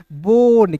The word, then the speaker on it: bone: यहाँ पे दोस्त देखेंगे सबसे पहले, यदि किसी वर्ड्स के बीच में ओ रहेगा और अंतिम में ई रहेगा तो ओ का उच्चारण ओ के रूप में करते हैं।